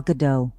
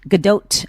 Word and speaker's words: Gadot: thought it was good i thought the t was silent and you're saying it's not yes interesting interesting i'm